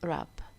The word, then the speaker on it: wrap: If you have W-R, W is silent. We don't say what up, alright? It is wrap. I wrap myself in a warm blanket, alright?